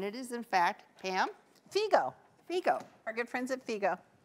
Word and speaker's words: Figo: Pam called and asked them how to pronounce their name, because we have been saying Figo, and it is, in fact, Pam? Figo.